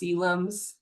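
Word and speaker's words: coelom: I know this word doesn't look how it's pronounced. It looks like colums, but it's pronounced cylums. I'm not exactly sure why.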